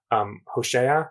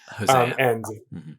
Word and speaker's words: Hosea: So for example, in Hosea, which I think is how you pronounce it in English, Hosea.